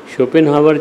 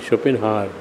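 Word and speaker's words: Schopenhauer: दुर्गुण अपनी मलिन काओं को घोल देते हैं शोपन हावर ज्यादा पका हुआ था शोपन हावर तुमने स्पेलिंग नोट करी कि नहीं एस एच ओ पी एन शोपन एच ओवीी ई शोपिन हार शोपिन हार ज्यादा परिष्कृत व विचारों के शिखर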